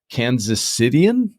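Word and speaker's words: Kansas Citian: assume that you're a native Kansas cityan is that how you say it you nailed it yes yep I I'm from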